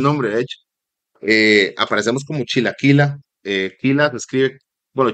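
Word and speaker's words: Chilakillah: Aparecemos como Chilaquila, Quila se escribe, bueno, Chila es C-H-I-L-A y Quila es K-I-L-L-A-H.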